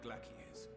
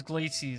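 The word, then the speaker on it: Glacies: i commend your heroic actions on the magna glaciers oh that's how you pronounce it all right forget your service to us and the people of raj i thought it was glaciers it's like glacier we have informed the refugees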